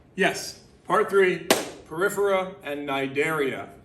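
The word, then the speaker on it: Cnidaria: part three periphera and nidaria nidaria you don't pronounce the C remember that it was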